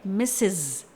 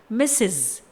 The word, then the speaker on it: Mrs.: MRS डॉट, इस title को pronounce किया जाता है मिसेज। एक बार फिर से मिसेज।